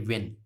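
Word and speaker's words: when: वेहन में, अब इसको हम भी पढ़ते हैं वेहन, लेकिन वेहन गलत है, इसको हम सही पढ़ेंगे वेन, वेन, जो अपनी वेन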